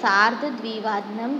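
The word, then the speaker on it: सार्ध द्विवादनम्: सार्ध यानी कि हाफ, द्विवादनम दैट मीन्स 2 o'clock और इसका पूरा प्रोनाउंस होता है सार्ध द्विवादनम दैट मीन्स 2:30.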